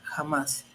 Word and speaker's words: jamás: Y por último, el acento además, la palabra además y la palabra jamás. Llevan acento en la última sílaba o última vocal, que es la A, y termina en consonante S.